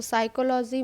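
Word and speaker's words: psychology: तो साइकोलॉजी में पी देखो नहीं कहीं पे आया, साइकोलॉजी इतना आया, तो पी साइलेंट हो गया।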